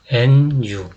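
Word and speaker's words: ν: 그런데 이거는 nu, new라고 읽어요.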